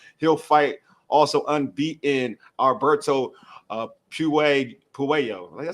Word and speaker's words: Puello: So it's why I was checking out Puello. I said it right this time. Puello on checking out some of his fights, and dude he's aggressive.